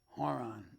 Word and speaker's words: Haron: me with that's Pastor horon or Aaron it's spelled h a r like horon Haron but they pronounce it Aaron that's his house I